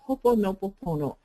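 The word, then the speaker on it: Hoʻoponopono: actually it's hopeful ponopono the accents on the first syllable it's h o accent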